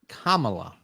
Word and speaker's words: Kamala: i see she you have to say her name correctly it's kamala i couldn't give her